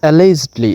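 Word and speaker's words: allegedly: এরপরে অ্যালেজডলি, এখানে আবারও জিটা জির মতো উচ্চারণ হচ্ছে, অ্যালেজডলি অর্থাৎ অভিযোগের সাথে বা এরকম যে অভিযুক্ততার সাথে বা অভিযোগের সাথে।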